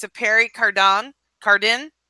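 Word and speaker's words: Pierre Cardin: way I can say it because it's a parry Cardin card in how do you say that well no no let's hear that again that was fun Harry card on yeah that's how you say it 1970s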